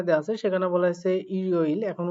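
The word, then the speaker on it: 일요일: এভাবে মূলত উচ্চারণ করতে হবে। এরপরে যেটা বলা হয়েছে এখানেও দেখেন রিগুলটাকে তুলতে হবে ওয়ারিওইল। তাহলে ইরিওইল মানে কি?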